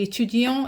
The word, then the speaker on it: étudiant: So, je suis étudiant is for a male. Je suis étudiante. Étudiante. And in that case, you pronounce the t. You don't pronounce the t with the male version, okay?